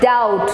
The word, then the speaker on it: doubt: don't say doubt it's doubt so d is silent b is silent the letter b is silent it's d o u